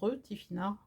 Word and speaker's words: Tifinagh: l'alphabet berbère qui s'appelle le Tifinagh, GH à la fin qui se prononce Tifinagh, qui veut dire notre découverte.